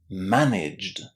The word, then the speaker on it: managed: We pronounce it as J. This means that we are putting the J sound, the same sound as we've got at the beginning of the word Jim.